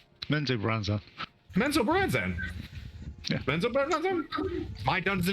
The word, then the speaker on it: Menzoberranzan: And we'll kind of Mesobaranzan. Did I say it right? Menzoberranzan.